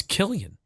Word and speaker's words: Killian: Listen, there it's an Irish name and it's pronounced Killian like the word Celtic spelled with a C. But it's Celtic. It's Killian.